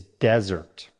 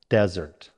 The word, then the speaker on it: desert: Our third word pair is desert. First, the noun. Stress on the first syllable, desert.